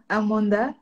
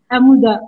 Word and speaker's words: Amoudath: Merci à Docteur Amanda. C'est bien ça? Ah, j'ai bien prononcé. Amouda, c'est pas grave.